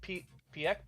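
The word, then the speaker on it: Pieck: And it was like, hey, we spent all our time working on Armin and Annie and Aaron and Porco and Mikasa and Peak.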